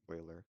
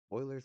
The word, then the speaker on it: Euler: Alright, so today we're going to be covering Euler's method, I think it's pronounced Euler, but this guy not only has his own number, but he has his own method.